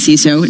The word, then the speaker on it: CISO: Pronounced as CISO, not anything else.